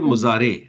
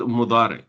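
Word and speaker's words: مضارع: हमारी उर्दू की वजह से ना काफी लोगों को इसकी आदत होती है, क्योंकि हमारी उर्दू में ये ज़ौद होता है, दौद नहीं होता, ठीक है।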